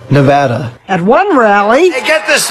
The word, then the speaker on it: Nevada: first the Donalds seemed delighted with his own pronunciation Nevada nobody says it the other way has to be Nevada actually Donald wrong this is right Nevada at one rally get this thing out of